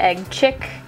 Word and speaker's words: Egg Chick: Okay, and then Egg Chick. Or Egg Chic, as some people say, but I am strongly for the Egg Chick pronunciation.